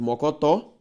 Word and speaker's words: mocotó: esse aqui ó mor só a sílaba tônica de mocotó uma palavra oxítona se eu fosse separar